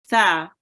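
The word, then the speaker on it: ث: Now, it is often replaced with sin, so make sure you don't read it as sa, you read it as tha. Okay, so sin here is pronounced sin, and this letter here is pronounced tha.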